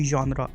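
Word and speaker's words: genre: हमें नहीं पता होता कि फॉर एग्जांपल अगर मैं एक वर्ड कहूँ जॉनरा, तो जॉनरा वर्ड जी से स्टार्ट हो रहा है लेकिन इसकी जो प्रोनाउंसिएशन है वो डिफरेंट है, तो हम प्रिडिक्ट नहीं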